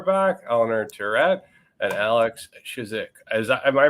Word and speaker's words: Chizhik: have Orchard car back Eleanor turret and Alex shizik as am I pronouncing that right Alex that's right that's awesome